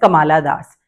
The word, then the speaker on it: Kamala Das: named as kamla Das I tell my student as Kamala Das because this is how they you know spell it correctly in the examination otherwise they write kamla however it is Kamala in spelling terms right ready for for